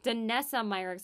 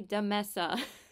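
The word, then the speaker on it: Danessa Myricks: I used the de why do I say her name wrong denessa myrix I was going to say Dessa she's a mess the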